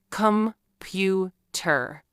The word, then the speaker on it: computer: For example, the word computer has three syllables, computer. But we don't say them all equally. We stress the middle syllable, comw.